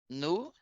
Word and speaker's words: nous: Nous Nous, sommes. nous Nous sommes. sommes. Ó, a gente não pronuncia o S, ó.